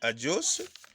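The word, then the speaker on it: hagios: En grec, c'est adios. Vous aussi, vous serez saints comme lui. Amen. L'expression, c'est ça. C'est adios qui s'écrit H-A-G-I-O-S.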